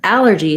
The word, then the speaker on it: allergy: ah sound with the word allergy to get the a sound i might pair it